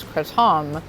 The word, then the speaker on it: kratom: i start taking kratom i pronounce it kratom because the correct pronunciation pronunciation is kratom but i'm american but i don't say kratom because that just sounds dumb kratom is not a